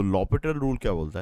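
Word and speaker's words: L'Hôpital: एलएच इसको लॉपिटल rule भी बोलते हैं। कई लोग उसको एल हॉस्पिटल भी बोलते हैं। सो एल हॉस्पिटल नहीं है। वो उसका प्रोनाउंस प्रोनाउंसिएशन लॉपिटल रूल ही जाता है।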